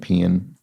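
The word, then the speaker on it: paean: um heard it pronounced p and pean I think pan is more traditional but I suspect they're both accepted uh host could be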